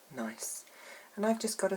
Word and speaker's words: gneiss: that i'm talking about is nice it's not spelt the usual way it's spelt g-n-e-i-s-s after the rock nice and i've just got